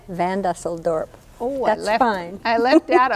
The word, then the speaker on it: Van Dusseldorp: Van Dusseldorp.